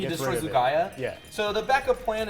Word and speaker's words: Lugia: Or I can just find one of the other Lugaias that's in the deck.